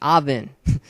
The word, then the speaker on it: Avin: Number 19, also Smash Royales, I've got Avin, or actually it's Avin pronounced. That's how it's really pronounced, Avin.